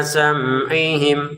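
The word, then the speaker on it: سَمْعِهِمْ: Ala qulubihim wa ala sam'ihim. Wa ala 2 harokat. Sam'ihimnya sama dengan mim sukun bertemu wawu. Harus kita baca jelas. Sam'ihim jangan dibaca sam'ihim. Jangan didengungkan di sini. Jangan ditahan lah ya.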